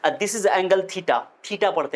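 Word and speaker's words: theta: ठीठा, ठीठा, ऐसे पढ़ते हैं कितने बच्चे? ठीठा, ठीठा, नॉट pronunciation is correct, okay, this is not correct pronunciation। सही pronunciation है थीटा।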